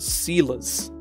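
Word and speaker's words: seiler: Joiners and sealers. Like sealer spelled like ceiling. A sealer, S-E-I-L-E-R.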